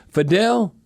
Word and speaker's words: Fidel: If you look at uh how do you say his first name? Fidel. Fidel Diggs. Yeah. Like like Fidel Castro.